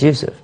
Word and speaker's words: Yusuf: reason I say it's impossible is because we're mispronouncing it from the get-go my name is what youf right my name is Yousef but when they translate it to English they